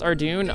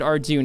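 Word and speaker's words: Ardougne: you know it's hard out here Rock here pronounce ardune I I've heard a fair bit of people pronounced it arjune it's not that uncommon to hear our Dune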